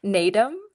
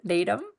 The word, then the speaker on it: Naadam: Naadam. It's like a a curtailed end of the word, Naadam.